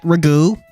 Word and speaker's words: Ragu: Yes, it is pronounced like the sauce, but we call them pasta. Hello, Nate B. So, they just met Ragu.